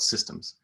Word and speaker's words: CSDMS: of a mouthful but if you say it with a soft c and a hard d it sounds like systems or systems so here people call it systems and it's an organization